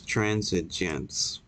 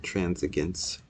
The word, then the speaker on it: transigence: And it's transigence. That's how you say it. Not transigence. Although my way of saying it is probably, I like my way.